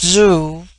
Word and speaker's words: Zhu: sucked Inward and thus Zhu pronounced Zoo which in their language is